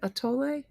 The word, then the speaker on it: atole: A tole. My mom always made mayonnaise cake. Of course she did. Meline, has anybody else had mayonnaise cake? A to sounds like a tole.